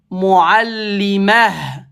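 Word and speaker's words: مُعَلِّمَة: Je veux pas dire muallimatun, ça s'écrit comme ça. Par contre, je le prononce muallimah. Ce n'est pas muallima mais uniquement à l'arrêt.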